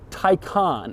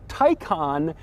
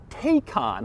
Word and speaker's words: Taycan: how you say it Tyco on and not take on which is odd because it looks like it would be pronounced take on but Porsche assures me that it isn't it's also strange because